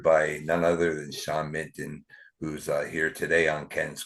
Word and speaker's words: Mitton: I think you said Minton, but that's okay. Mitton.